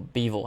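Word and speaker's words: Bivol: moment and that is dimitri bival or beavel how he pronounced his last name this man is the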